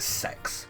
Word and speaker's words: CeX: We call it Sex. Because of course we do. But it's called CEX. That's how I pronounce it.